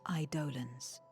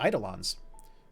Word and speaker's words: Eidolon: fearsome beings known as idolans oh is that how that's pronounced i've been saying eidolons huh idolims the aseans